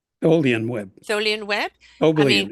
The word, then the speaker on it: Tholian Web: Star Trekkie, who wrote the, how do you pronounce it? The Thelian Web? Tholian Web.